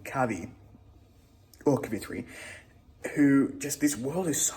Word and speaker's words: Kavithri: Just a quick check-in to say I started Kavithri, which now I can pronounce correctly because I'm listening to the audiobook by Aman J.